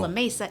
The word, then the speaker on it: La Mesa: And so she was just like, I don't even know how to pronounce La Mesa. She said it's Oh. La Mesa.